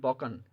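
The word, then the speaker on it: Balkan: क्या सुना, यानी इसको पहले बोलते हैं, ये वर्ड है बॉल्कन, पहले इसकी प्रोनाउंसिएशन बोले बॉल्कन नहीं, तो ये होते हैं बॉकन, बॉकन, ठीक है।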